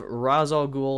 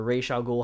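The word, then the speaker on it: Ra's al Ghul: as a character uh next up we have razor ghoul or ray shaw ghoul however you want to pronounce it from batman begins played by liam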